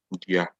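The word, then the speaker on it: dua: two words, nipa and dia. However, I want you to notice something. The spelling of nipa here. The spelling of nipa is double N-I-P-A. That's nipa. And dia is D-U-A, dia.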